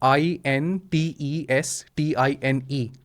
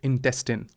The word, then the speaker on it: intestine: Classes लेते थे, तो INTESTINE Yeah. ऐसे हमें कैसे पढ़ाया गया था? We call it intestine. Yeah. बट इट्स नॉट the correct pronunciation. Okay. British English में और अमेरिकन इंग्लिश में इट्स इंटेस्टिन।